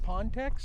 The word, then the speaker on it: Pontex: Now, I imagine the French people who watch may have a different pronunciation, but it seems the locals call it Pontex. So, we're going to go with Pontex.